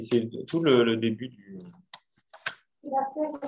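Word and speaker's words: Baslez: Ça, c'est Marie-Françoise Basselès dans Après Jésus, page 470. Tout le livre s'appelle Après Jésus? Oui. Et c'est tout le début du... Basselès, ça s'écrit B-A-S-L-E-Z.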